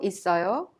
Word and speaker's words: 있어요: In our previous lesson, we learned that 요 in 형도 있어요 is pronounced 있어요. The final consonant double S in it of 있어요 is prolonged and connected to 어요 to be pronounced 있어요.